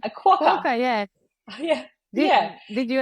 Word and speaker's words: quokka: I think is this the correct pronunciation? A quokka.